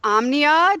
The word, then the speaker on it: Omnia: And then now you are the co-founder of Omnia. Did I pronounce that right?